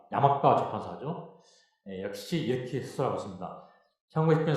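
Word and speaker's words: 山川出版社: 그 다음에 두 번째로 고등학교 세계사 B 산천출판사인데 일본 발음 야마가와 출판사죠.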